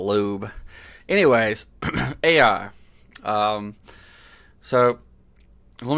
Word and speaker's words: Loab: and demons uh and loab as I call it or lobe um my friend was like why are you calling it loab I said well that's how it's spelled but apparently in in uh normal conversation it's a Lube anyways AI um so